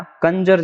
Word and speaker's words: conjure: ये आपने सुना होगा, ये कंजर, हाँ या ना। कंजर जैसा इसका प्रोनाउंसिएशन है। कंजर एक जाति होती है ना, कंजर।